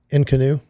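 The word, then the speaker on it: inconnu: And I can't tell you exactly how to spell it. It's not spelled like in canoe.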